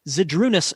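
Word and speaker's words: Žydrūnas: But Hugo Dump emerges from his match with, I was told over the break it is pronounced Zydrunas Novak.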